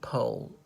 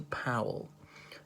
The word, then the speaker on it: Powell: blair but i think the eldest one pronounced it pole and the young one pronounced a powell in this spell exactly the same as colin as colin powell's surname so that's him he's